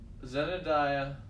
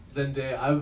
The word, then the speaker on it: Zendaya: i'm saying it right is it just zendaya i'm saying zenodaya though that's not like jebediah but i've been said of that zendaya that's is that that sounds more right i'm going to say